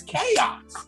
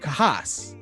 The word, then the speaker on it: Kayos: And it's chaos. So I've been getting that for years, and I originally had it spelled with like chaos, but with a K, and then people would start pronouncing it Kahas, and I'm like, all